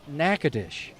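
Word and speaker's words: Natchitoches: And it's pronounced Nacadesh.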